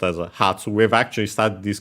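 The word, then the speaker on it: 発: meaning departure uh and nowadays usually pronounced Hatsu, but originally it was Patu and so with the doubling of the consonant the P was actually kept instead of becoming Ha.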